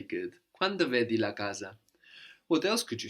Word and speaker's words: casa: in Italian is la casa so that single s that comes between vowels you can hear more like a Zed sound or an S sound depending on the dialect la casa la casa